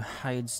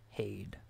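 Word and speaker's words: Heide: So we must go to Hyde's Tower of Flame. Or not Hyde, Hade. Hade's Tower of Flame. I'm pretty sure that's how it's pronounced.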